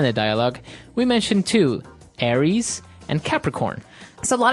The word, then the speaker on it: Aries: famous fire signs is Aries right mhm mhm Aries it's like the god of war in the Greek mythology that's right and uh so it's pronounced Aries Aries a r i e s Aries that's